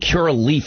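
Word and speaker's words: Curaleaf: now this is a it's called cure i think cura leaf is how you pronounce it it's america's largest cannabis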